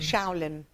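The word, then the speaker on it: Xiaolin: Shaolin.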